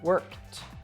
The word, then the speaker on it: worked: verbs ending in K always have that T sound worked it's the same as